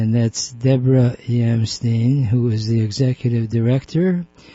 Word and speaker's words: Yamstein: Am I pronouncing your last name right? Is it Yamstein? It is. You got it right, Ike.